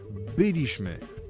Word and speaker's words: byliśmy: wiedzieliśmy i tak dalej Słuchajcie za każdym razem kiedy odmieniamy czasownik w liczbie mnogiej w czasie przeszłym następuje przesunięcie tego akcentu z drugiej sylabie od końca trzecią sylabę od końca to jest zmiana z Akcentu paroksytoniczny go na proparoksytoniczny nie będę tego specjalnie teraz wyjaśnić bo nawet nie ma po co tak naprawdę ale tak to po prostu działa więc wiedzieliśmy byliśmy poszliśmy i tak dalej i